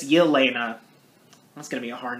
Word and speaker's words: Yelena: sounds like elena or just elena but it's yelena that's gonna be a hard name to pronounce and they're just enjoying their time at